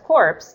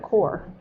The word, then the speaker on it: corps: telling if you use if you pronounce cor PS as corpse that's a different word instead of core so that's why I